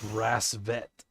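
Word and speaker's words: Rassvet: Rasvet. That's how we're supposed to pronounce that.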